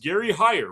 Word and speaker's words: Gary Heyer: Today I have a very special guest, Gary Heyer, right? That's how I pronounce it?